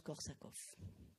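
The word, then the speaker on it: Korsakoff: soit avec 2 f en tous les cas ça se prononce korsakov en avant encore de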